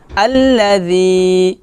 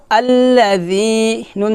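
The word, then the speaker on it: الذين: হবে না হবে জি যখন আপনি জাল উচ্চারণ করবেন তখন আপনার জিহ্বাটা নিচের দাঁতের সাথে লাগাবেন না জিহ্বাটা সবসময় উপরে দাঁতের আগায় লাগাবেন এবং পাতলা করে লাগাবেন পাতলা করে উচ্চারণ করবেন আল্লাজিন জবর না আল্লাজিনা আল্লাজিনা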